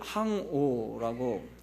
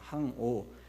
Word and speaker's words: 항오: 갈 행자, 행렬, 이것을 행을 항오라고 합니다. 같은 행자지만 항이라고 읽습니다. 항오.